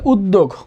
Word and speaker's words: উদ্যোগ: এখানে দয় জফালা আছে, দয় জফালা থাকলে উচ্চারণ দিতে হবে, তাহলে আমরা উদ, তারপর হচ্ছে এখানে দেখো দ ওকার আছে, দিলাম দ ওকার, উদ্যোগ। এখানে গ আছে, গ হচ্ছে ব্যঞ্জন বর্ণ, এখানে একটা হসন্ত হবে, উদ্যোগ হবে।